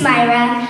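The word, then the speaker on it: Samaira: The next one is Samira. Samira is over here. Her first name is spelled as S-A-M-A-I-R-A. My name is Myra.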